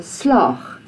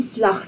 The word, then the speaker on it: slaag: So, if you say, ek is seker jy sal die eksamen slag. That's not right. And you think, oh no, that's not right. Ek bedoel slaag. Slaag. No, nie slag nie. Slaag.